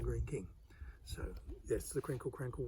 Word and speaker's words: Greene King: say 'crinkley crankley', because they pronounce the 'e' on the end just the same way as they pronounce 'Greeny King' instead of 'Greene King' so that's the crinkle